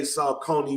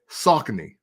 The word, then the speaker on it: Saucony: Because I hear people over East say Saucony one way, and we say it another way. But he's the creative director of the shoot. Right. So I'm glad you said this because it's always been pronounced two different ways, depending on, I guess, where you're from. Because I think overseas, they say Saucony.